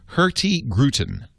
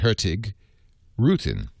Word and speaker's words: Hurtigruten: It's spelled Hurtigruten, which means the fast route. Hurtigruten. But it's not pronounced as it's spelled. It's pronounced Hurtigrute.